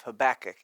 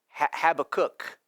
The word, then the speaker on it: Habakkuk: book of Habakkuk and yes I did say that right Habakkuk some of you might say well I don't know it could be pronounced differently and so I did actually look up some other pronunciations for Habakkuk 1 you can actually say this way have a cook like you have a cook in your house and if you're sitting